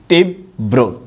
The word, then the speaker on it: তীব্র: তীব্র শব্দের মধ্যে দীর্ঘ ইকার আছে, উচ্চারণের সময় হ্রস্ব ইকার হবে, ব হসন্ত হবে, বয় রফলা ওকার হবে, তীব্র।